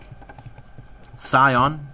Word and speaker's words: scion: begins with letter s we call it a scion the C is silent although if you say